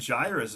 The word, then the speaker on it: Jairus: That's right, Jairus.